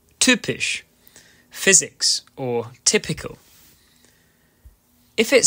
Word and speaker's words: typisch: Sometimes, the letter Y, which is called Y, which in itself is great, can be used as a vowel, making an Ü sound. For example, Physik, or typisch, physics, or typical.